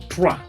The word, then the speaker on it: trois: 3 is being pronounced as trois.